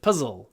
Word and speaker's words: puzzle: at the end puzzle make sure you get the dark l in your throat not puzzle puzzle of the the tip of the tongue goes down to your bottom teeth and you say LL puzzle puzzle it can also be